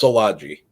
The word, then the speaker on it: Szilagyi: was wondering uh it's it's pronounced solaji good old Hungarian name I was going to